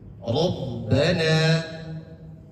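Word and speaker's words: ربنا: Contohnya rabbana rabbana kemudian arrahman. Contoh yang kedua, arrahmanu. Untuk kategori pertama, bagaimana cara membaca ro tebal? Yaitu ro yang berharkat fathah. Rabbana tebal.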